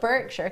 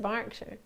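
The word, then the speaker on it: Berkshire: You call it Birkshire because it's got an E in it, but you pronounce it Barkshire.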